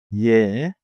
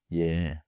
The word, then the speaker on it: 예: 예. Is also short and clean. 예.